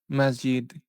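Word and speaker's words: مسجد: And the word is pronounced um masjid.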